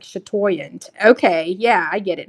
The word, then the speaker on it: chatoyant: have them pronounce it for you so they pronounced it for me and then I was like chatoyant okay yeah I get it now so that's